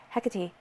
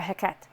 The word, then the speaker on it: Hecate: Hecate is, or Heket, however you want to say it. There's a million different ways to say her name. But we'll go with Heket.